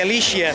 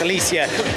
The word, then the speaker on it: Alycia: foxtrot alicia from gardener last time i got your name wrong i think i call it alicia it's alicia nice to see in